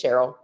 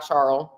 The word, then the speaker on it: Cheryl: but it's all good it's Cheryl not charl not Cheryl not cheryn although my middle name